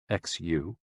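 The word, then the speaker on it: 嘘: the six sounds are xu pronounced like shh with a deep sigh which is associated with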